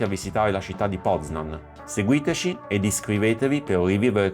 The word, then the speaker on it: Poznań: Siamo a Poznan, con l'accento sulla N.